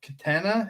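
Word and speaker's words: Catena: And then in the finals there, you had Anthony Katina? Is that how you pronounce his last name? Katina, yeah. Katina.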